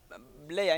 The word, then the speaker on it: Blair: Kati bo nga bagamba Blair instead of Blair nga bagamba Bear.